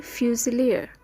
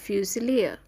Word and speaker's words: fusilier: পাশাপাশি জানবো শব্দগুলির বাংলা অর্থ, ইংলিশ উচ্চারণ এবং শব্দগুলো দিয়ে গঠিত একটি বাক্য। বন্দুকধারী সৈনিককে আমরা ইংলিশে বলতে পারি ফিউজিলিয়ার। এটি একটি noun spelling. F ইউ এস আই এল আই আর ফিউজিলিয়ার।